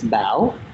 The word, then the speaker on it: Bao: certain people I say my name is ba when I think of my name in my brain it's ba and it has that question mark sound and that's a Vietnamese accent that completely changes the